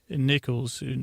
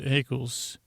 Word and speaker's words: Eccles: Jennifer Eccles rhymes with freckles. Why'd I say Nichols? Eccles.